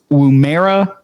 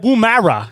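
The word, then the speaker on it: Woomera: believe it be pronounced Wumera, South Australia. Wumera. You got you got to pronounce it with the with a little bit of a twist to it.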